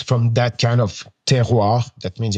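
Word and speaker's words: terroir: Uh, first one, it's called uh teroir. It's written, it's spelled t e r o i r teroir.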